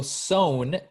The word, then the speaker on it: sewn: like the pass so sone yes is the past it's still pronounced with an o even though it has an e okay okay all right keep going so a dragon was sometimes sewn onto the on the